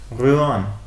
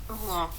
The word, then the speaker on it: Rouen: And it is actually pronounced. Rouen. It's actually pronounced like. Rouen.